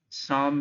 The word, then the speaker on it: Psalm: Dear students, psalm में P silent है, so the word is SALM, so it is pronounced Psalm of Life.